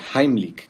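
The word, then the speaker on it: Heimlich: Vamos a ver en este video la maniobra de Heimick, que por cierto, esa es la pronunciación correcta porque está en alemán.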